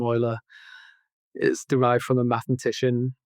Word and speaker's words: Euler: The name Ola is derived from a mathematician from the 18th century. It's pronounced differently to how it looks like it should be pronounced and all the rest of it.